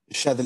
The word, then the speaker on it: Shathil: Est-ce que je prononce bien ton Khair. prénom? C'est Shavil? Shadl, exactement, exactement.